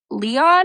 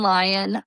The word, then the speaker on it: Lyon: from 1971 which is directed and written by Nelson Leon or Lion. It's spelled like the French city like Leon, but I'm just going to say Nelson Lion for now.